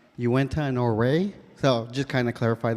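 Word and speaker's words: Uintah and Ouray: enrolled member of the Northern New tribes it's pronounced Uinta Norway so just kind of clarify that and thank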